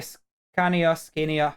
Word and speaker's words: Scania: Sorry, I will buy a Scania, how you pronounce it in English proper.